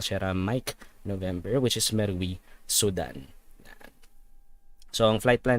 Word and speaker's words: Merowe: Jeddah, Saudi Arabia to Merowe, Sudan. Binasa ko yung, pinag-aralan ko pa yung pronunciation niya. Merowe daw. Hindi Merowe. Merowe. Actually, ganun eh. Merowe. May tigas yung R.